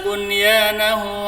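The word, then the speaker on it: بنيانه: dibaca izhar juga ada pada kata bunyahu bukan buahu Tapi bacanya Bu banya izhar jelas saya contohkan bacaannya ya Bismillahirrahmanirrahim afaman asasa bunyanahu ala Taqwa minallahi waidwanu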